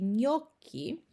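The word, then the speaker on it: gnocchi: trudny do wypowiedzenia czyli w słowie nioki Co oznacza kluseczki mamy właśnie ten zlepek i to będziemy czytać jako ń Czyli jako n z kreską nasze polskie nie okej i teraz zobaczymy sobie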